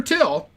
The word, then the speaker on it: Thiel: I might say Peter Theil a couple of times because that's how it's spelled, but it is pronounced Thiel as far as I'm concerned.